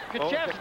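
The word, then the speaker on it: Krzyzewski: Kaczewski. Okay. But Polish people never pronounce the K.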